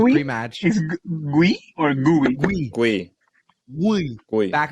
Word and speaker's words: Guiu: Guiu. Back of the throat. Guiu. Yeah, Catalan.